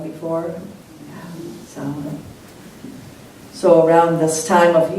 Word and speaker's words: Samhain: Well, at Samhain, I've seen it spelled Samhain, like those Gaelic words. It has a strange pronunciation. Have you heard it pronounced Samhain before? Samhain.